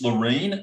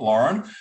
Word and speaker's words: Laurene: and by the way for those people it's Loren all right so you got to get the name pronounced pronounced right all right not Lauren so it's Loren and it's l to her